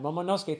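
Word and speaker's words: Momonosuke: Momoske. Thank you everybody who corrected my pronunciation of Momoske.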